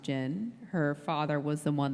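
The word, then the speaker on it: Jyn: And in the international trailer, they hinted that Jin, I believe her name is pronounced Jin, her father was the one that sent the transmission about the Death Star.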